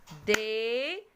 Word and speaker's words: désert: Regardez le point noir. Le point noir, il marque la place du son Z. Et ici, le son Z, ça s'écrit avec la lettre S.